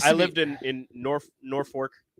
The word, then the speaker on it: Norfolk: The first time I ever anchored, it was talking about Norfolk, and I said it that way, but it's pronounced Norfolk.